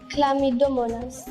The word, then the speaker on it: Chlamydomonas: Please help me pronounce that word. How do you say it? Chlamydomonas.